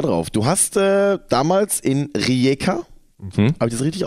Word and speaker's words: Rijeka: Du hast damals in Rijeka, habe ich das richtig ausgesprochen?